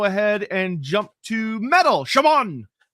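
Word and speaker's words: Chamon: It's often pronounced as an X in phonetic languages.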